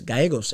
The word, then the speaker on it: Gallegos: got to say it the two l's is the y sound in spanish you know what you